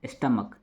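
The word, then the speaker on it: stomach: ठीक है, देखिए यहाँ पे दूसरा है स्टमक, स्टमक माने क्या होता है? पेट। इसका प्लूरल बनाने के लिए केवल एस लगा है। यहाँ पे सी एच का उच्चारण क होता है, इसलिए हम क्या लगा दिए?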